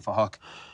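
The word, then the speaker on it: Phuc: We're spelt with a PH, so it sounds like Fahok.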